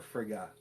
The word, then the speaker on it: Frigga: next one which is red frigg or frigga depending on how you like to pronounce it um who is probably